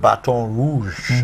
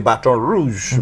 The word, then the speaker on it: Baton Rouge: the place was called Baton Rouge. As we know, they say, the Americans say Baton Rouge, but we know it's Baton Rouge, as in a red stick.